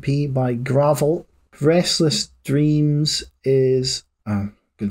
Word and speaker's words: Gravelle: the gothic pop Geo gravel from Livingston it's spelled g r a v e l l e but is pronounced like the dirt as they say on